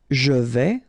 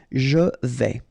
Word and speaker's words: je vais: Je vais, final S not pronounced here, and remember when you combine this A and E together, you get the sound E, so really open. Je vais.